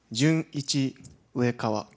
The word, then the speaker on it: Junichi Uekawa: Okay, there's actually a pause between Jun and Ichi. So this is pronounced as Jun Ichi Uekawa. One, two, Junichi Uekawa.